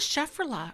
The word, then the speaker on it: Schefflera: Oh, I have a Schefflera, or I don't know how to say it. Schefflera. It's Schefflera.